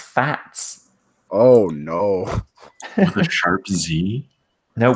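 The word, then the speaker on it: FAZZ: excuse me the fat apparently how you pronounce it yes pronounced fats oh no sharp Zi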